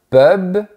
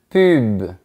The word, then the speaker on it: pub: Attention parce que la prononciation est différente. Un pub, une pub.